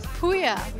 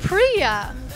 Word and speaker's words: Puya: And I said, oh, my name is Puya. And she said, oh, Priya. And I said, no, it's Puya.